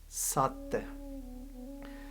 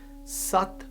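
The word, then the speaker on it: ਸਤਿ: Sassa, Tatta, Tatte nu Sihaari The 'sihaari' is silent when we pronounce it but it tells us about the origin of the word.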